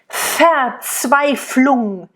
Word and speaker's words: Verzweiflung: And again, the V at the beginning is like a really harsh F, right? Verzweiflung.